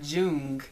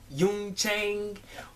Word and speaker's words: Jung Chang: y Chang you can't it's not Jun it's y Yun Chang oh she going to